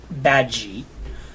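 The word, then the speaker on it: Badguy: played by Ricky Gervais his name is Dominic bad G although it's spelled bad guy so Dominic reduce them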